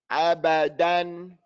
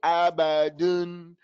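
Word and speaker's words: أبدًا: Abadan. Open your mouth on that dial. Don't say abadun, abadun, dun.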